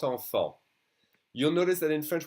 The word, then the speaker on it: enfant: As I said earlier, the last consonants of words are silent. And here this word would be grand. If I pronounce it alone, it's grand. And this is the word enfant. We don't say the T, we don't say the D.